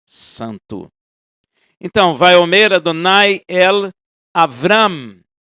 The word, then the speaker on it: Avram: Então vai Homera, Donaiel, Avram, não é Avraham, é Avram.